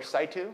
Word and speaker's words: in situ: like ductal ductal carcinoma in situ or situ as one of the doctors told us is pronounced um you got to